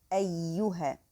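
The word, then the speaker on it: أيها: And here take care that the next ya after the hamza is the light letter. So you, ayyuha.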